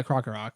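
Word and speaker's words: Krokorok: again fire what uh does how do you pronounce uh croco rock oh yeah croco rock that's it kakarot i think crocker rocks better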